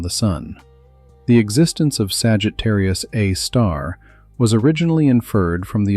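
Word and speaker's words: Sagittarius A*: Sagittarius A, pronounced Sagittarius A star.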